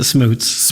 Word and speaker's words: Schmutz: Our family pronounces it Schmutz.